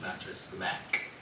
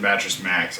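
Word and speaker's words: Mattress Mack: on that one also his name is pronounced mattress Mac mattress Mac that's what I said right you said mattress Max I thought you were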